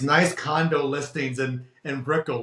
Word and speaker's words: Brickell: Is it Brickell? Uh Brickell.